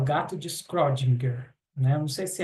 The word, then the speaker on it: Schrödinger: Uma vez eu pesquisei no YouTube e eu vi que acho que a pronúncia mais correta seria Schrödinger, né?